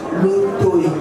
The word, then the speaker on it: Lotoy: J'appelle le professeur Lotoy. J'ai bien prononcé. Exactement, j'arrête, vous avez très bien prononcé.